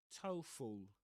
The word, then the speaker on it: TOEFL: So, in this case, we say TOEFL TOEFL, that's the pronunciation of that one.